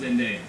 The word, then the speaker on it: Zendaya: It's pronounced Zendaya.